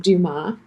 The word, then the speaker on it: Dumas: in Seoul South Korea my last name is French and it is pronounced Duma you don't pronounce that